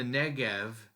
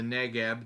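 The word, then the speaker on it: Negev: And then down in the Negv or the Negeb, depending on your pronunciation, it's the darker uh provinced area there.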